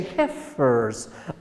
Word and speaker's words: heifers: Watch out the pronunciation. We say heifers.